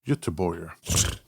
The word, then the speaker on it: Göteborg: Gothenburg. Göteborg.